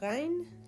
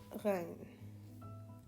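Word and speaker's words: غ: Now, the way you pronounce it, you don't really have an equivalent to this in English language, which makes it challenging. Rein. But the way to pronounce it is if you are gargling. So try gargling, every night for a week, and then you'll be able to pronounce this perfectly.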